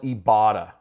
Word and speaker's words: Ibotta: the news i'm on the site right here it's spelled ebata right i-b-o-t-t-a and the way it works is